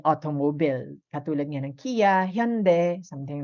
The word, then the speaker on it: Hyundai: kilala natin like Kia, Hyundai. So ang pronunciation kasi is Hyundai, no? Hindi Hyundai. But kilala natin siya as Hyundai, right? But in Korean, they call it Hyundai. That's how they pronounce it.